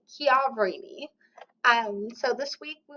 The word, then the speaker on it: Chiaverini: name so that is not Chini it is kavini um so this week